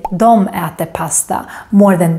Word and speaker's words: de: we normally just say nothing also the word Dia is normally pronounced as Dom so most would say Dom at the pasta more than di at the